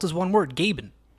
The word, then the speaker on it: Gaben: Even listed on the track, it's spelt as one word, Gaben. They're not even saying Gabe N. They're saying Gay Ben.